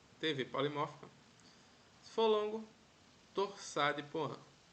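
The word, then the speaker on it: torsade de pointes: polimórfica se for longo torça de poan assim que se pronuncia é o nome francês ok a gente aprendeu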